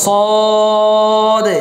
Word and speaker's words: صاد: এটার নাম হচ্ছে সদ এটা হচ্ছে সদ আমরা শিখাতে বলছিলাম যে সোয়াদ না বুঝছেন কি হবে না সদ সোয়াদ এটা হবে না কি হবে না সোয়াদ তারপরে দোয়াদ সোয়াদ দোয়াদ এভাবে হবে না কেমন উচ্চারণটা কি হবে সদ সদ সদ صاد صاد صاد صاحب